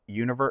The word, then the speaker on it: Univer: this collection that's like it's called univer where it's like un vrs like Universe without the syllables that's their like cool